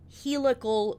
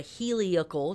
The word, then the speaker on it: heliacal: And I've talked about this before, but a heliacal rising, or a heliacal, it's pronounced both ways, rising of a fixed star is an old astronomy and astrology term that is an optical phenomenon.